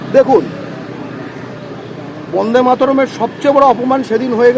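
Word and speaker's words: বন্দে মাতরম্: দেখুন বন্দে মাতারমের সবচেয়ে বড় অপমান সেদিন হয়ে গেল যেদিন বন্দে মাতারমটা বন্দে মাতারম ভি হয়ে গেল বি টা যেদিন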